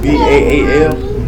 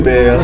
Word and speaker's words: Baal: Ball. B-A-A-L. Ball. I thought it was Baal. Some Bell. people say Bell.